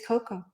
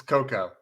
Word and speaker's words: cocoa: always perplexed me and it's just an english pronunciation is it coco or cacao or are there two separate things it's cocoa it's cocoa yeah so what's c-a-c-o-a is that the same